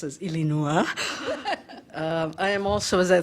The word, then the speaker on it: Illinois: It's lovely to hear it pronounced as Illinois.